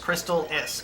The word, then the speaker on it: Crystalis: It's pronounced Crystalis.